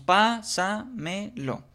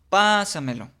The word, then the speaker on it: pásamelo: Ahora, si nosotros la dividimos en en sílabas, decimos pásamelo. Aplicamos la misma técnica de la entonación, pásamelo. Ubicamos en qué sílaba está la tónica y de esta manera podemos colocarle el acento y saber si es una palabra sobreesdújula.